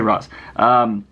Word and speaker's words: Ra's: Even Batman said it that way in the Batman animated series when he started out, and then he started saying Raish. But whatever. I don't care. I don't care how it's pronounced. I'm going to say Ra's.